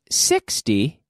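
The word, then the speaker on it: sixty: Whereas with 60, we have the intonation on the first syllable.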